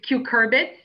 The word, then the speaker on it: cucurbits: and by the way you were close with your pronunciation it's cucurbits i was uh i